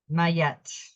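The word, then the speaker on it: Ma'at: got the Divine master and this is she's pronounced mayette mayette is divine intervention weigh up your options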